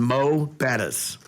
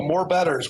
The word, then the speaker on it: Mo'Bettahs: So many people love to start off and say, oh, more Bettahs. We're going to go to more Bettahs. No. Like, no. No. Mo Bettahs.